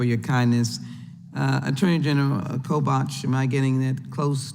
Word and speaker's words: Kobach: the chairman for your kindness uh attorney general kobach am I getting that close to pronunciation sir kobach yeah thank you so very much um I've